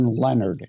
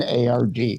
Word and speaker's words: Lenard: important to throw in there's no O in Lenard. It's Lenard.